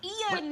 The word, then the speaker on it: Ian: And we're like, no, it's 2 syllables, Ian.